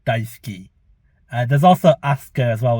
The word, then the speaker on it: Daisuke: And it's where I said it as Daisuke, but it's actually Daisuke because it's a silent U.